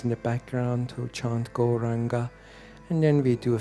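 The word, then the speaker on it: Gaurānga: Goranga has full syllable. Go, ra, an, ga.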